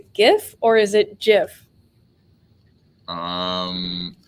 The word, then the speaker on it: GIF: in our hosting team we've got a jeff person and we got a gift person uh we have people in the comments uh the founder says it's jeff uh roman um i think that the internet said sure founder but we disagree it's gif um we we have avery saying it's definitely gif or jif hard to know is like the peanut butter brand so there's jiff and